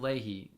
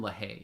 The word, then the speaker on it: LaHaye: Charles, you say they are such a joke, and it was Tim Leahy that introduced the Left Behind theory. Yeah. or Tim LaHaye.